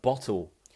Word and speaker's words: bottle: Could you please teach the pronunciation of the TL sound in a word like bottle? Bottle. Bottle. Okay, so bottle. Imagine you're blowing candles out on a cake.